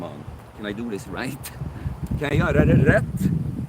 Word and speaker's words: rätt: Rätt, the way you spelled it, it's pronounced right.